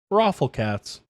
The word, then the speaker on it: Rafflecats: Took me a little while to figure out how to pronounce that name, because it looked like Rolf, but no, Rafflecats.